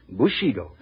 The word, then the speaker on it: Bushido: Bushido. Am I right about the pronunciation, interpreter?